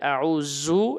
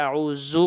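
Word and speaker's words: أعوذ: আবারো বলছি আউজু এটা মাথায় রাখতে হবে আউজু এটা সবাই এই বোলটা করে আউজু পরে উচ্চারণ শক্ত করে আউজু পরে হবে না নরম করে জিহ্বার আগা থেকে একেবারে হালকা করে আউজু আউজুবিল্লাহি মিনাশ শাইতানির রাজীম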